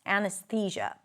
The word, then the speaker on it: anesthesia: Anesthesia.